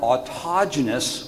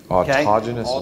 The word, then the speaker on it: autogenous: I know all about autogenous welds. That's one. Autogenous welds. Autogenous. Say it with me, kids. Autogenous welds. Okay. And it's spelled like autogenous, A-U-T-O-G-E-N-O-U-S, autogenous.